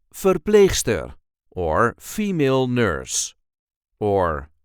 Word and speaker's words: verpleegster: And this time we will see how to pronounce verpleegster, or female nurse, or verpleger, male nurse. This is the way we say verpleegster, or verpleger, verpleegster, Verpleger. There is a light emphasis on the second syllable, Verpleegster, or Verpleger, Verpleegster, or Verpleger, Verpleegster, or Verpleger.